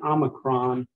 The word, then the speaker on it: omicron: okay okay now um purposely trying to pronounce the Omicron the way he says it rhymes with the word not and the reason for that is so we don't confuse it with an Omega which is going to